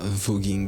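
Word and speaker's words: voguing: dire il y a vogging il y a deux syllabes il y a pas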